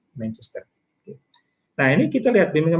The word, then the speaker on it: Manchester: Jadi pengucapannya juga Manchester, datar semuanya, Manchester.